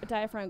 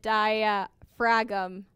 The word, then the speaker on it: diaphragm: Are you saying that I have said diaphragm wrong my entire life? Yes, Katie. It's not diaphragm. No, the G is silent.